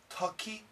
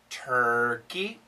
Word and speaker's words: turkey: turkey birds burgers purple i'll say it wrong four four no four tucky tucky no turkey buds buds no birds bogos pogos no burgers burgers no purple purple now i have a